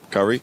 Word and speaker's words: Kaori: Hey, I'm Porte here with Aurora's Kaori. Is that how you say it? Kaori?